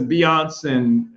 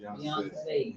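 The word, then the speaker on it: Beyoncé: On the occasions when black, of course now there's Beyonce and whomever else that they, you know, I said her name wrong, huh? Beyonce. Yeah. Beyond saying.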